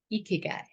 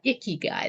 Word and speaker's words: ikigai: wisee heart wellness and tonight we're talking about eeky guy and it's not iy guy that would be not very good to talk about iy guy and it's spelled I'm